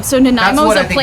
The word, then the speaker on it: Nanaimo: No, but it looks a lot like a Nanaimo square. Yeah, that's what I think it is. How do you say? What is that again? Nanaimo. So Nanaimo what is I a think it place is.